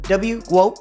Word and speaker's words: GWOAT: Is it GWOAT? Is that how it's said? Yeah, it's like GOAT, but GWOAT, yeah.